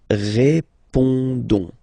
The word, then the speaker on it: répondons: Alright, then of course for nous, we've got the normal and classic ending ONS, okay, don't pronounce the final S, you only pronounce this on sound, so you get répondons, nous répondons, nous répondons,